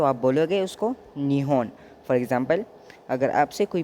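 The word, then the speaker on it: 日本: तो जैपनीज़ में जापान को अगर आप प्रोनाउंस करोगे तो आप बोलोगे उसको निहोन।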